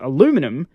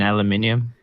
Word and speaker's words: aluminium: It's just certain words I have a lot of difficulty pronouncing. But aluminum rolls off my tongue perfectly, so I must have an American tongue. Lazy. You mean aluminium?